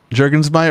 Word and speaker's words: Juergensmeyer: I pronounce the name jurgensmeyer the way it's pronounced in German so he put an e after the U to try to force Americans to pronounce the U is uh so how